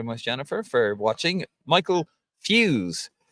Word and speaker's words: Fuse: Michael Fuse. It's pronounced like fuse, but I enjoyed watching the struggle.